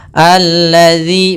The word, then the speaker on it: الذي: Kemudian hati-hati dalam melafalkan huruf dzal. Huruf dzal, hati-hati. Jangan sampai kita membacanya dengan huruf zai. Misalkan ara'aital ladzi yukadzibu misalkan. Tidak, karena di sini huruf dzal, jangan sampai kita ganti.